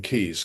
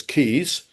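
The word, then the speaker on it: Caius: my college in Cambridge, which is Gonville Keys College, or normally known as Keys College, spelled C A I U S.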